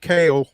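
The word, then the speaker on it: Kahle: a pronunciation on Nick Kale, which is spelled K A H L E. He he hit me back. Kale like like the vegetable, but um could not talk because he was on a flight.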